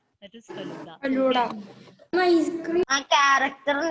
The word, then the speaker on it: Feluda: Don't pronounce it as Faluda. That is Feluda.